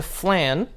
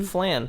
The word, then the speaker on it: Flann: Who created some incredible healing miracles, and she was married to Flann, the flame god, who is never mentioned again. Flann? Flann. Flann or flan, like the dessert?